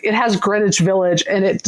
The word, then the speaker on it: Greenwich: Greenwich Village. Yeah, this is in the village. And it does say like it has Greenwich Village and it says like the W is silent by the way.